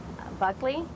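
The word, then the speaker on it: Buchele: Buckley. It's spelled B-U-C-H-E-L-E, but it's pronounced in this country Buckley.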